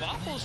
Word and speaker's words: WFFLS: I believe chat's informing us that's pronounced Waffles.